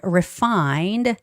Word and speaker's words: refined: And refined. The stress is on fine. Okay. Refined. not on the re part.